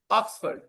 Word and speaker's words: Oxford: The stress is on the first syllable and that's why the correct pronunciation is Oxford.